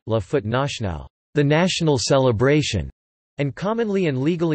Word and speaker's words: la Fête nationale: In French, it is formally called La Fête Nationale, French pronunciation, La Fête Nationale, the national celebration, and commonly and legally Le 14 Juillet, French pronunciation, L Cats, I, the 14th of July.